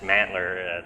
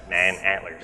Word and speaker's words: Manantler: on a regular basis a lot of people said it was like just mantler like oh okay that's it you know it's man antlers yeah some people call